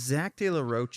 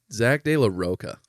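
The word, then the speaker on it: Zack de la Rocha: That's not how you say his name. Zach De La Rock, sorry. Zach De La Roca. The A There's is an at A the, at the there's end an of A at the end.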